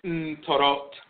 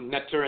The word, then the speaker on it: Ntoro: wisdom, we attune to the Ntoro and Ntorot, mispronounced Netter and Netert, but the Ntoro and Ntorot, the male and female deities of divine wisdom, Tehuti and Seshat.